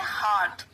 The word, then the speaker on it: heart: इसकी प्रोनाउंसिएशन जो होती है वो होती है heart. R साइलेंट होता है, hurt नहीं कहते हैं इसे, heart.